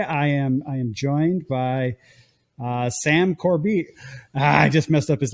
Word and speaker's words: Corbeil: It's Corbeil. It's it's a French name.